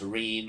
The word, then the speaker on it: Reen: My name's Reen. Rhymes with clean, but I feel more like cleaning some clocks.